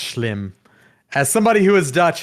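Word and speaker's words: Schim: s-c-h-i-m is how you spell it and it's pronounced shlim as somebody who is dutch himself oh okay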